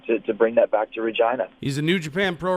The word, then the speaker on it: Regina: than the way it is supposed to be pronounced, which is Regina. Not Regina, not something that begins with a V. It's going to be Regina, Regina, Regina.